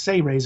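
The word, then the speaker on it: Seyrehs: It's actually pronounced Sey-Rays, as if it was spelled S-E-Y-R-E-H-S, or Sey-Rays. Sey-Rays, okay. So instead of Sea-Ray, like the boat, we'll call them Sey-Rays. Yeah, I like that. It's not series like the World Series, it's Sey-Rays.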